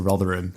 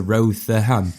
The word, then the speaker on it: Rotherham: sign saying "Welcome to Rotherham," and he pronounced it "Welcome to Rotherham." I was like, "No, it's not the, it's just Rotherham."